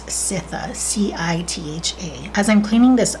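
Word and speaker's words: Citha: it's how it's pronounced i'm always tempted to say cynthia hazel but it's sitha c-i-t-h-a as i'm cleaning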